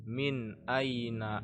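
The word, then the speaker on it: مِنْ أَيْنَ: sedikitpun maka ini bacanya Min Aina Anta contoh saja karena ini bukan Quran ya Min Aina ini tidak dibaca Min tidak dibaca mim tidak dibaca Miu Mi tapi min Aina Anta yang ini dibaca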